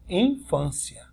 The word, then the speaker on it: infância: nada de Tom que você fala infância infância Ui é fraquinho que o ar é o mais forte de bom tá vendo